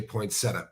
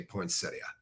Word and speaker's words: poinsettia: what I call it I happen to say poinsetta but there are a lot of people on Earth who say poinsettia it's a poinsetta why